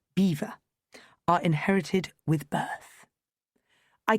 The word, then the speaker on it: Belvoir: These subtleties, not to mention being in the no when it comes to pronunciation, Belvoir, for example, is incomprehensibly pronounced beaver, are inherited with birth.